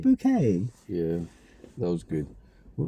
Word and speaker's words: Bucket: Not Bucket. Not Bucket, Bouquet. It's Bouquet. pronounced Bouquet.